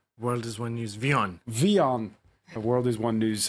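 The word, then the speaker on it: WION: And Taha Siddiqui, Paris bureau chief for, do you pronounce it? World is One News, Vion. Vion.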